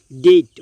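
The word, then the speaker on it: debt: অর্থাৎ এই ওয়ার্ডগুলোকে যদি আপনি খুব ভালোভাবে খেয়াল করেন, এখানে দেখবেন বি রয়েছে কিন্তু তারপরেও বি সাইলেন্ট অবস্থায় রয়েছে, অর্থাৎ বি এর কোনো উচ্চারণ হয়নি।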